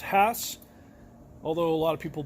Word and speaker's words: Hass: Hass avocado yes I'm not mispronouncing it it's pronounced Hass although a lot of people believe it's Hass it's really not the original family that developed